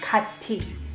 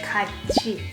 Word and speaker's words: 같이: As you heard, I don't pronounce it as 같이. We say 같이, CH sound, which is together.